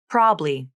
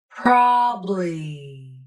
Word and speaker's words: probably: of my accent clients are unfamiliar with the two-syllable pronunciation probably so here it is up close and in slow motion probably great job thank